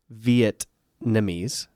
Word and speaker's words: Vietnamese: The correct pronunciation is Vietnamese.